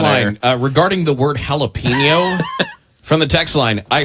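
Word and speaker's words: jalapeño: regarding the word jalapeno from the text line. I heard a friend pronounce it Japoloni.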